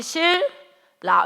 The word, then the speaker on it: 신라: 발음 쉽게 하기 위해서 이거 어떻게 발음해? 우리 그지? 실라. 이거 우리가 이미 다 쓰고 있는 거라고. 우리가 이미 다 쓰고 있어. 알겠습니까, 여러분? 현우가 우리가 이미 다 어떻게 이거 신라라고 발음하는 사람이 없다고.